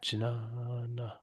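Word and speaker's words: ज्ञान: Yeah, Jnana. perfect. The first A is long, so it gets 2 beats. Jnana. No. Second one is short, gets 1 beat. Na. Jnana.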